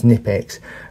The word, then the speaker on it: Knipex: So, as you just heard, up till now, I've pronounced these pliers as Knipex with a silent K.